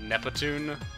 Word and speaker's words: Neptune: stuttering over the name Neptune is because in Japanese people can't pronounce p and t like in succession like that so it would be more like nepon and that was essentially